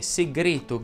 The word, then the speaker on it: segreto: Con qualche eccezione che presto andremo a vedere, ma la E tonica delle parole terminanti in ete ed eto va pronunciata chiusa. Infatti si dice discreto, abete, pruneto, rete, secrete, segreto, greto, vigneto, pometo, tappeto, peto e così via.